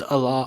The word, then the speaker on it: Allah: they're saying it wrong I think they're saying Al it's Allah Allah who the [ __